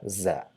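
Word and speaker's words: زاي: So just as in zoo, it's not Jew, or it's not uh, do or something like that. It's just a buzzing sound, buzz, z, Yeah, za. So with a at the end, za, za, za, za. So it's equivalent to English Z.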